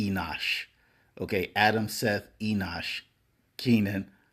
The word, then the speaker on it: Enosh: 1 Chronicles 1 and1 it says Adam, Seth, Enoch, Kenan, Mahleio, Jared, Enoch, Methuselah. I think I mispronounced that after Seth. I think it's Enosh.